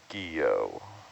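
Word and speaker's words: Guyot: that we're diving on today is called the guillot that's how it's pronounced but it's spelled g-u-y-o-t yeah it's french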